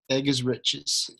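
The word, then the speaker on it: Eggerichs: and the author is Emerson egar spelled like egg e g g r i c HS so that that's in the recording egg is riches um okay I had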